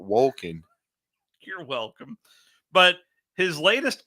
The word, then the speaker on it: Wolken: No, but you pronounced it Woken, not Wolken.